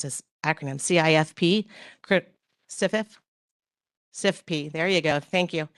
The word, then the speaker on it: CIFP: Um PJM did create what they call SIF, I don't know how you pronounce this acronym, CIFP. Crit- SIFIF? SIFP, there you go.